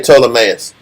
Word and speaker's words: Ptolemaeus: He wrote unto Ptolemy, the governor. Just say Ptolemaeus. That P is silent.